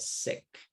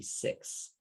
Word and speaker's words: six: pronounce correctly for example the word six you said sick it's supposed to be six in a word wash you